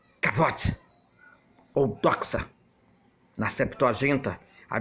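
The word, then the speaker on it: כבוד: A palavra bíblica para a glória de Deus é kabnod, do hebraico, se pronuncia kavod ou doxa.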